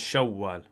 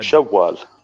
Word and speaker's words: شوال: So this would you pronounce it as Shawwal with a shadda. شوال.